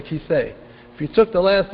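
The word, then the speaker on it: כיסא: side it's very silent the olive is always almost always a silent letter for example you're sitting right now on a and Hebrew a key to say that's what it's called a chair it's called a kissee if you took the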